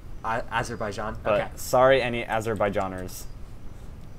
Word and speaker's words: Azerbaijan: I think as herb I think it's just Azerbaijan as her by John okay sorry any Azerbaijan